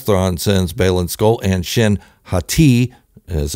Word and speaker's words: Shin Hati: way surprise surprise thrawn sends Baylen skull and shin hati as it's pronounced after Sabine to destroy both of them